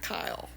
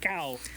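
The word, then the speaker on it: Caio: interview that uh Colette's first name is not Kyle. Uh, I always thought it was Kyle based off how the broadcasters pronounce it, but the graphics uh, spelled out a new name for me.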